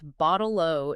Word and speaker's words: bottle-o: And they concluded that the pronunciation only really works when you pronounce your T's as duh, which is common in the Australian accent.